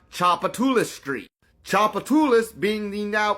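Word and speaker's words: Tchoupitoulas: knows this mouthful which by the way is pronounced chapula Street chapatas being the now extinct tribe that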